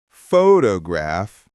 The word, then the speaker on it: photograph: For example, we say photograph, stress on the first syllable, but photography, stress in the middle.